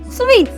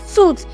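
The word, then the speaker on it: suite: next up we have sweet an Hotel sweet and what an Hotel sweet not suit s u i t e i pronounce the word sweet and not suit so if my sweet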